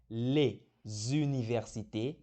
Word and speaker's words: les universités: Então fica les universités. Embaixo está aparecendo como tu vai pronunciar. Les universités. Meio que aparece um Z ali no meio.